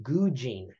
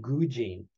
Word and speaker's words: gujin: One thing that I find very interesting is, and you may have run across this, it's the Zen expression gujin. If we were to spell it, it's G-U-J-I-N.